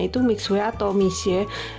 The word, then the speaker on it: Mixue: bacanya itu mixwell atau mixe Katanya sih bacanya itu Misye tapi kalau kita bilang Michel itu kebanyakan orang itu nggak ngerti gitu ngertinya kalau kita ngomong mixe gitu baru nyambung gitu ya Jadi biasanya Mama